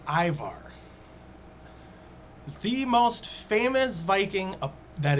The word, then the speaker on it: Ivar: Aymar's Viking pronunciation is Ivar.